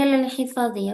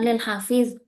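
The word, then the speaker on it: لِلْحِفَاظِ: Ini lil hifadhi ya, bukan lil hafiz. Tadi bacanya lil hafiz.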